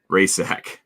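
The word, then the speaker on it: Rajcsak: You spell it, she's Polish as well, and it was R-A-J silent C S-A-K Rajsak.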